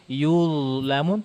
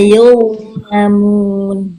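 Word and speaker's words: يظلمون: Kalau bacanya yuzlamun tipis itu, la yuzlamun tuh beda. Ulangi. La yuzlamun.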